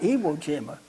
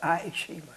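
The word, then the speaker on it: Ie Shima: Not Evo Jima, but Aayishima.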